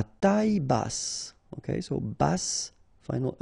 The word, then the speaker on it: bas: Q u E logique bas final S not pronounced bas ok bass final pronounce